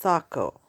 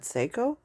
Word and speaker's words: Saco: name up in Sako I learned it's pronounced Sako uh cuz I would have normally said SEO um it must be